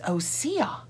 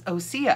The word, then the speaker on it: Osea: I think she says Osea. Osea? I think she says Osea, and she is affiliated, so she would know. I think that's how she says it.